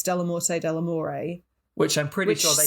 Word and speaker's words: Dellamorte Dellamore: to enlighten me well i've been saying del morte delamore and it's not it's de la morte de la moray which i'm pretty sure